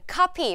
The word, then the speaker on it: copy: ก เนี่ย นะ คะ ให้ ออก เสียง ภาษา อังกฤษ เป็น Copy เป็น เสียง เะ เหมือน ค ควาย Copy stress พยาง แรก แล้ว ก็ paste p